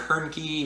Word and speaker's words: Hoernke: As always, I am Hoernke, rhymes with turnkey, and this has been a production of Zero Value.